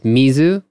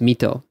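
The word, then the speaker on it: 水戸: there's a town and the kanji for it is mizu it's like it's a water well but it's pronounced mito there's no zoo in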